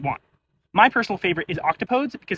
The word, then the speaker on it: octopodes: my personal favorite is octopodes because its alternate pronunciation sounds awesome octopodies